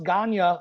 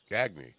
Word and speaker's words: Gagne: um my last name was just hard to pronounce ganya a g-a-g-n-e I just got sick of people